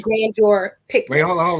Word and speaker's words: Grandeur: spelled g-r-a-n-d e-u-r picnics so it's like grandeur like french grand junction but it's really like green your picture wait hold on